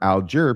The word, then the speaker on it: Alger: This particular surname goes by different and sometimes conflicting pronunciations and he gives a lot of them out there. I favor Alger because at least four of Fann's brothers and